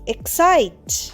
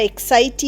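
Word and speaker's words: excite: strong উশ অর ওয়ান্টশি Hodge desire to travel এব্রড তার বিদেশ ভ্রমণের ইচ্ছে আছে ই এক্স সি আইটি এক্সাইট দেখো এখানেও ই উচ্চারণ হবে না আমরা এক্সাইটি বলছি না এক্সাইট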